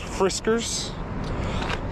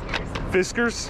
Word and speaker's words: Fiskars: Also, it's it was a lot of fun hearing people all around the country pronounce Fiskars in a different way. Fiskars, Fiskars, Friskers. It's Fiskars.